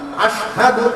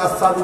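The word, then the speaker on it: أشهد: আশহাদু আন্না, আশহাদু আল্লাহ, এই যে আশহাদু শিন উচ্চারণ হইত না, শিনের ক্ষেত্রে সিন উচ্চারণ করতেন, আসাদু হইতেন।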